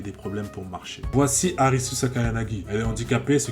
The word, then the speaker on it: Arisu: Voici Arisus Akayanagi. Elle est handicapée, ce qui l'oblige à rester assise. Merci de votre compréhension. Enfin, Arisu qui est la prononciation japonaise d'Alice, mais tu connais, c'est